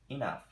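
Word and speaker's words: enough: বলতে হবে এটা আসলে এনাফ না অনেকে আমরা এনাফ বলি এটার উচ্চারণটা অনেকটা ই এর মত হবে ইনাফ যেটা পর্যাপ্ত বা যথেষ্ট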